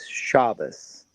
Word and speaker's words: Shabbat: They're unsaved Jewish singers, but they their music is based off of Psalms, but they're Ashkanazi. And so they pronounce Shabbat is shabas.